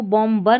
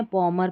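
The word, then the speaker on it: bomber: यह इसको बॉम्बर नहीं पढ़ना है। बॉमर पढ़ना है।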